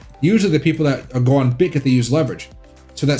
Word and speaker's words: Bitget: I call it Bidget because I'm lazy, but you can call it BitGet. I think it's the formal way to say it.